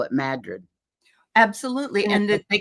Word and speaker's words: Madrid: Only the locals call it Madrid.